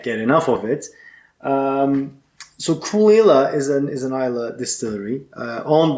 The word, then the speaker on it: Caol Ila: It's written Caol Ila, Ila, but it's pronounced Caol Ila.